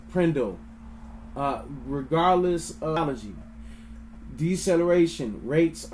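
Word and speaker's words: PRNDL: The gear selector is often called the P RN N DL pronounced prindle.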